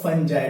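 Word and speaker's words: fungi: सो the last type is spore formation, और ये होता है दोस्तों फंगाई में। इसका एग्जांपल क्या है, फंगाई, राइट, या आप लोग फंजाई भी प्रोनाउंस कर सकते हो, उसमें म्यूकर एग्जाम्पल है।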